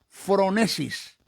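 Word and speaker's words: phronesis: lo que se conoce en el griego como fronesis se escribe pH r o n e s i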